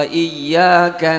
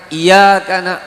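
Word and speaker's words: إِيَّاكَ: Iyyaka na'budu wa iyyaka nasta'in. Ada tashdid pada Iyyaka. Iyyaka. Terkadang orang membacanya "Iyaka".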